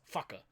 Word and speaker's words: whaka: Anytime you see a R, and with the WH, it's a F. So, for instance, WHAKA is fucker.